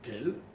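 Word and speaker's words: אל: Et le nom de Dieu qui est employé dans ce verset, c'est le nom El, Aleph, Lamed, qu'on dit normalement Kel, on le prononce comme ça, ok, et qui, plus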